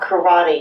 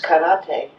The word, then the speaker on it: karate: And every syllable is pronounced the same emphasis. So it's not saki that we drink, it's sake. It's not karate, it's karate.